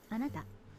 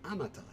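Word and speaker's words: あなた: Anywho, would you like to listen to the pronunciation again? Watashi. Yep. Okay, so watashi. And let's continue. Ready for word 4? Anata.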